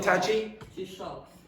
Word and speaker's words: Taoiseach: Now, before she says it, how do you pronounce that word? Again, Tachi? Yes, very good. Okay, so like a cup of tea, and then you're shocked.